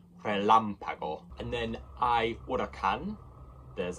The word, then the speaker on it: relámpago: With the accent on the first A, that's where you put the stress. So it's not relámpago, it's relámpago.